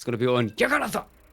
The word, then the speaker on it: Jagannatha: It's going to be on Yaganatha. That's the way to pronounce it. You throw your hands up in the air forcefully and say Yaganatha. Jagannatha?